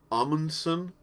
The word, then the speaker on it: Amundsen: It's pronounced Amundsen.